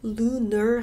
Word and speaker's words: lunar: 근데 luna라고 하죠, luna. 미국 영어는 lunar 하시는 게 맞아요.